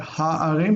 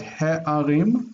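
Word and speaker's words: הֶעָרִים: Okay, so he'arim, the cities. The he on there is because we have the kamatz in an unaccented syllable with a guttural. So it's not ha'arim, but he'arim.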